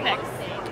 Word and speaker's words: Knipex: Knipex.